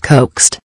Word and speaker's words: Kowkst: The fuck, Kowkst is trying so fucking hard right now. It's pronounced coaxed.